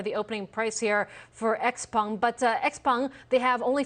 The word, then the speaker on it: Xpeng: I don't know how to pronounce this. Xpeng. Xpeng.